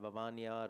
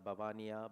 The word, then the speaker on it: Vavania: It's called Vavania or Bhavania, Babania, different pronunciations.